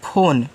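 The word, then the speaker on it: phone: ना इंग्लिश वाले में अगर लास्ट में इ होता है तो उसका प्रोनाउंसिएशन हम नहीं करते हैं उसको साइलेंट रखते हैं वो भी सिखाऊंगा यार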